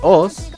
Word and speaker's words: osu!: Y bien, Osu, con la correcta pronunciación de Oz, aunque nadie le dice así, es un juego de